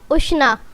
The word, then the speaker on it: Ushna: नाम है उष्णा। उष्णा नाम के इंग्लिश में स्पेलिंग है USHNA।